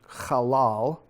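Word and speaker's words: qalal: So this is the word that he says, anyone who treats you halal, which means to be slight, trifling, of little account, not important.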